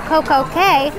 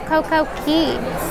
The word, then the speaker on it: CocoCay: G and the question is how come people pronounce IT Coco K and other people like us pronounce it CoCo Key I always thought it was K because it